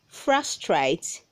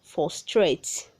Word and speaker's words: frustrate: read 174 says frustrate say frustrate not for straight red 100 75 says